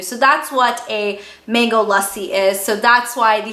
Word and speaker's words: lassi: Now, if you know anything about the name Lassi, if you guys are not familiar, it's not pronounced Lassi, it's not Lassi, it's Lassi, and that is basically a mango milkshake.